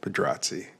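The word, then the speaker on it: Pedrazzi: And if anybody's wondering, that's how you say it. Pedratzi.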